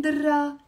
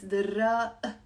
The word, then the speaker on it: دراق: It's written with a qaf, but we don't really pronounce the qaf. The Druze pronounce the qaf in Lebanon. But generally speaking, it's very common to not pronounce the qaf in Levantine Arabic or in the Lebanese accent. So دراق. I'm not saying دراق. It's دراق. You have to do that pause in the end.